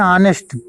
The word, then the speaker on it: honest: हम पढ़ते हैं जैसे HONEST लिखा है तो उसको हम पढ़ते हैं ऑनेस्ट, तो इसका जो प्रोनाउंसिएशन की जो प्रथम ध्वनि आ रही है वो फिर आ